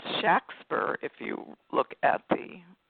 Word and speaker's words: Shakespeare: but he was born with that name William Shakespeare actually pronounced Shack spur if you look at the documents of the